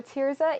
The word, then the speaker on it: Thirzah: to you how do you spell tiza so tiza is spelled t h i r z a awesome